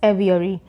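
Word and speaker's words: aviary: वन इज एवियरी एवियरी ध्यान दीजिएगा यहां पे एवी आई ए आर वाई है बी नहीं है जब बी होता है तो ब प्रोनाउंस करते हैं जब वी हो है तो वह प्रोनाउंस करते हैं प्रोनाउंस करते हैं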